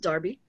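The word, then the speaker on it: Derby: that is how you pronounce pronounce that it's pronounced darby uh there was another joseph wright around so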